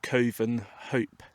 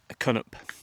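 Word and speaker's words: Covenhope: How about it looks like Coven Hope, Cunnup. So somehow the V is dropped and the H, Cunnup, from Coven Hope.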